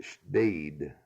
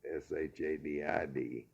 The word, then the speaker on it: Shadid: name, which was Salim, and they would pronounce it Shdid in Lebanon, which is shaded, Shadid, here in our country.